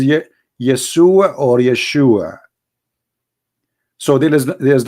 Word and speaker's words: Yeshua: so and those it isn't because they cannot pronounce the correct word the correct word in the Hebrew is Yeshua as simple as that so it's because it's